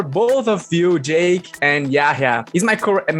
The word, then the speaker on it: Yahya: my first question is for both of you, Jake and Yahya. Is my pronounce correct, Yahya?